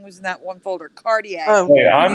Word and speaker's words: Cartier: It's spelled Cartier, but it's Cartier.